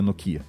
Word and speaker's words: Nokia: Então no caso era a Nokia né Nokia Nokia nocho que Nokia né a pronúncia correta E aí o que que que